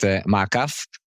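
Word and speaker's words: Maakaf: that correctly too okay now I said it in the Hebrew accent maaf this is how we call it in our Hebrew accent well chronus chrones when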